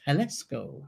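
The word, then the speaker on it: Jalisco: yeah the J because the J sounds like a h time Vicky same bridges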